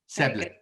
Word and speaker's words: Seble: And do I pronounce that correctly? Yeah, it's Seble. Seble.